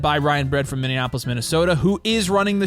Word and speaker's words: Minneapolis: Indianapolis say it again Minneapolis say it again Minneapolis now you're saying it right yeah what I